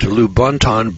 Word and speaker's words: Lubaantun: 11-pound skull was unearthed by Michael Hedges at lubaantun British Honduras now this is spelled Lu ba a and tu n lubaantun